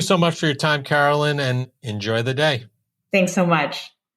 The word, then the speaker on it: Caroline: And probably Instagram if you want to talk triathlons, which is just Carolyn Bikes, but it's spelled like Caroline.